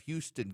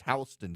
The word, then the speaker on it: Houston: K-A-R-O, but nope, it's spelled Cairo, but they pronounce it Cairo. My favorite is we have Houston County in Georgia, but it's Houston County in Georgia.